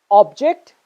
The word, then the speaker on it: object: Similarly, you can pronounce this word as present, and you can also pronounce this word as present. Object and object. Content and content. Both words are correct, by the way, both pronunciations.